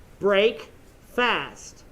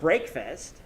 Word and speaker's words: breakfast: Break, fast. We don't say, it's not breakfast or break fast. That's not how we say it. We say breakfast.